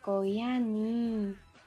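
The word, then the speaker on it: 고양이: Le deuxième, cela va être un chat ou chaton. Cela va se prononcer « koyani » et s'écrire ainsi.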